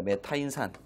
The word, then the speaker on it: 메타인산: 1차필기 안전 관리도 공부하죠 요걸 우리가 뭐라고 읽고야 메타인 산이라고 읽습니다 메타인산 hpo3 우리가 메타인 산이라고